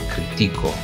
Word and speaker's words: critico: lleva tilde la palabra critico, porque se trata de una palabra que tiene la sílaba tónica de la penúltima sílaba y por tanto es llana.